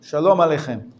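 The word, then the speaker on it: שלום: means unto you peace unto you shalom this is the Sephardic pronunciation my grandfather he would never say shalom he would say foreign different pronunciation instead of instead of Allah Allah different it's the same word pronunciation is different they're all kosher and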